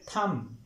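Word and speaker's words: thumb: रहा है लेकिन स्टूडेंट्स इसकी करेक्ट प्रोनंसिएशन होती है थम थम थम थम यानी मीम पे बे या य बे की आवाज नहीं आनी चाहिए या बी यहां पर साइलेंट होगा थम नेक्स्ट वर्ड है मट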